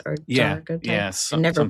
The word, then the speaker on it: daguerreotypes: It's daguerreotypes or daguerreotypes. Yeah, I never pronounce it right.